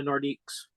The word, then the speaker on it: Nordiques: from Quebec toward the nordiques nordics it's like how do you say it again it it's um it's like saying North but in French Nordic I was calling